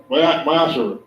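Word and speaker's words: ma'aser: Means tenth in the Hebrew. And it's pronounced Ma'asher.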